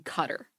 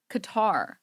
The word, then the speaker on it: Qatar: but it's not cutter it's not cutter if you're gonna use American transliteration English transliteration just say Qatar there's no American that can't pronounce Qatar saying cutter is not is not accurate like what the [